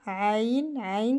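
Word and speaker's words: ع: Ça vient de la gorge à l'intérieur. Aïn, comme les yeux.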